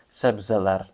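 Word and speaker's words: sebzeler: слово у нас це себзелер себзелер наголос на останнє потім Огі огірок я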